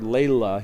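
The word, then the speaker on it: Lehle: And I use a Lely pedal, this Burkhard Layla, he pronounces it, and this one has the VERHEYEN mod to it that he gives you.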